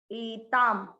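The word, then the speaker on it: एतां: पहला चरण ए ता पर है अनुस्वार, इसको बोलेंगे म, आधा म, क्योंकि शब्द के लास्ट वाले अक्षर पर है, इसलिए इस अनुस्वार का उच्चारण होगा आधा म। एताम, द के नीचे री की मात्रा, इसको क्या पढ़ेंगे?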